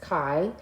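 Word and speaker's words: chi: is a Kai squared I know it's spelled D hii It's pronounced Kai Square test um and there are three types of Kai Square tests that we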